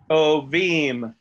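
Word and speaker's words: טובים: Tovim is how this would be pronounced.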